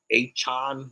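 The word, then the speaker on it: Achane: __ ] like that the rookie eight-chon which is how he wants it to be pronounced now was it yeah between rushing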